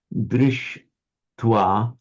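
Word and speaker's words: दृष्ट्वा: By a regular rule of Sandhi, whenever you get a sh followed by a ta, both become retroflex. So by regular Sandhi, drish twa becomes drishtwa with a shta written like that. So it's a sh. So I've written it badly. Sh plus t is you curl them round together, but written a bit like that. Shta, drishtwa.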